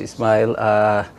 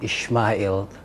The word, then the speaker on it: Ismail: Thank you very much, Ismail. You corrected me this morning. I was saying Ishmael. I think the Muslims, that's how we pronounce it.